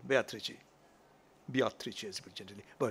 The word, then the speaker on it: Beatrice: Interestingly, in the five works where Rabindranath mentions Beatrice, he spells the name in Bengali to reflect the Italian pronunciation, not the English pronunciation Beatrice, but the Italian Beatrice.